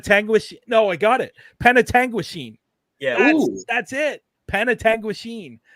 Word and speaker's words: Penetanguishene: name p penet tangu no I got it Penetanguishene yeah that's it penet Tangen that is the